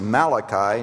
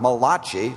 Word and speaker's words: Malachi: Find the place where the Old and the New Testament meet, and it is pronounced Malachi, not Malachi, like an Italian friend of mine thought it was.